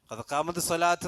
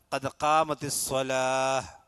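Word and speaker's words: قد قامت الصلاة: കദ്കാമത്ത് സ്വലാത്ത് എല്ലാവരും പറഞ്ഞതാണ് കഥകാമത്ത് സ്വലാത്ത് എന്നല്ല കദ്മത്തി സ്വലാഹ് അതാണ് ഉച്ചാരണം ഹാലാ നിർത്തേണ്ടത് നിർത്തുമ്പോൾ ഈ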